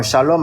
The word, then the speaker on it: shalom: Bon, shalom avec Salam, ça se ressent mais quand tu prononces, tu vois, c'est pas pareil. Oui. La différence de la prononciation là, c'est quoi ? C'est le chat. C'est le chat. Le chat et le Il y a l'homme, il y a l'homme aussi. Le l'homme aussi avec le lâ c'est pas c'est pas il y a pas besoin pour ça mais c'est surtout le chat et le ça qui